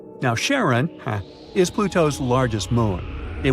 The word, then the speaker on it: Charon: most mysterious one, Charon, also pronounced Sharon. So, you can pronounce it however you like. I'm going to go with Charon. Now, Charon, is Pluto's largest moon.